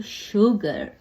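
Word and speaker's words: sugar: जैसे कि सन में कभी-कभार श भी होता है शलगम वाला श भी होता है जैसे कि शुगर टी टी का साउंड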